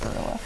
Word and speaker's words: guerrilla: Now, gorilla isn't spelled how we spell, like, animal gorilla. It's more like the band. G-U-E-R-I-L-L-A. Yeah. So, guerrilla. Yes. But I think it's pronounced gorilla.